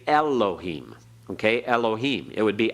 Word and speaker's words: Elohim: always the UH so we've learned to say Elohim ok Elohim it would be actually eloheem be barely there with the first part of